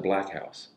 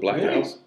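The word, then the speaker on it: Blaq House: like in North Hollywood black house yeah black yeah it's and it but it's spelled b l a q house it's spelled like that black housea yeah and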